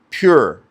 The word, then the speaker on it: pur: That word in the Persian language lot is pronounced pure p ur as we would say.